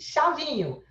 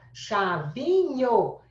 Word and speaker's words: chavinho: Chavinho, CH, 2 letras. Se fosse para fazer fonética, seria só o X. Então, dígrafo consonantal. Chavinho.